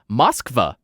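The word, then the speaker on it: Москва: have learned is pronounced moskva i totally butchered that but that's how you pronounce it in russian i believe take it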